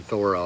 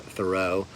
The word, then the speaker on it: Thoreau: You think of the Alcotts like Louisa May Alcott, Nathaniel Hawthorne, Margaret Fuller, Henry David Thorro. That is how you pronounce his name. Thoro I believe not thorough.